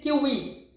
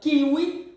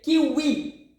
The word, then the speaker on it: kiwi: kiwi the green fruit we say here kiwi not kiwi we say kiwi okay kiwi so ketchupi